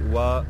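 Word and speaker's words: oie: And your Egyptian goose would be Wa d'Egypte, and Wa is the name for goose, so, and you spell it O-I-E, very weird name in French.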